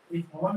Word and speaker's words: whole: होल में ना W silent होता है, इसको एस से बनाया जाता है, ठीक है।